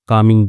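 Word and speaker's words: calming: बदल गया I started कमिंग down मैंने शुरू कर कर दिया। ठीक है? तो एल साइलेंट होता है यहां पे कामिंग में।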